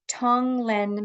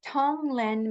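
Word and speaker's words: Tonglen: So, Tong Len meditation. I'm going to spell it for you because it's sort of hard to pronounce that G and but it's it's just spelled T O N G L E.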